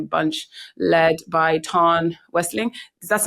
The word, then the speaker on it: Westling: They've changed their name a bunch, led by Ton Westling. That's not how I pronounce the name that you said. How do I pronounce his name? Westling.